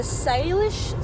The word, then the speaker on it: Salish: So, for all of you who are hanging, the Salish Sea, so Salish, which is spelled S-A-L-I-S-H, Salish.